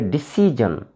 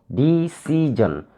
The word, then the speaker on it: decision: In the same way, decision. There are three syllables here, decision. We should stress on the second syllable, decision. Second syllable is C, decision, CI.